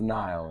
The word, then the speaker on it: Nihil: uh from Revel of nil uh rivers of Nile yeah that's how we pronounce it yeah correctly okay all right and